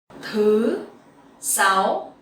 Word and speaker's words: thứ sáu: So here these two words has dấu sắc. So you have to go up and you have to make it very clearly so it will sound correctly, differently with dấu ngã.